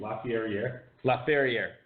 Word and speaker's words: Lafayette: Lafayette. Whatever. Dominic Lafayette. Actually, it is kind of cooler to say it the way it's supposed to be. Lafayette. Oh, rhymes with derriere.